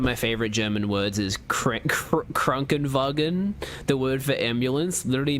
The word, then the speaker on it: Krankenwagen: One of my favorite German words is Krankenwagen. The word for ambulance literally means sick wagon in direct translation. It's very satisfying to say, especially if you don't get the German style R roll down. Krankenwagen.